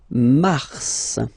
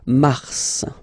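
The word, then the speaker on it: mars: so in a way it's an exception because normally final s is not pronounced in French okay we've got some exception and this one is one of them so Mar pronounce the final s mar mar okay then ail ail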